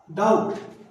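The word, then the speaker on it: doubt: एक आता है डाउट, शक, डाउट। यहां पे बी नहीं बोल रहा हूं, यहां बी साइलेंट है।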